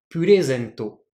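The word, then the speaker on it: プレゼント: Par exemple, un cadeau en japonais, purezento. Ici, je monte avant le ré, et je descends avant le Z. Donc en fait, le Ré est plus haut que les autres kana, que les autres morts.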